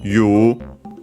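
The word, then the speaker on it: 言う: iwareru, actually from you, our usual verb, you, also pronounced in its base form as you, sometimes also written as such, but yeah, it's more in pronunciation actually.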